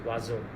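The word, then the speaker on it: oiseau: What you read is different from what you hear. For example, the word for bird, the word if I pronounce it is wazo.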